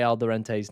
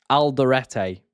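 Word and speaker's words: Alderete: I do say Alderente's name wrong. So yeah, there we go. Aldorete is his correct name.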